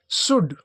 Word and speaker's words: should: फिर SHOULD, उसी में सेम साउंड है, तो इसको लिखेंगे शुड, इसको लिखेंगे शुड। शुड यानी जैसे चाहिए, कोई काम करना चाहिए, जैसे यू शुड डू, तुम्हें करना चाहिए, इस प्रकार से, तो इसमें भी एल साइलेंट रहेगा।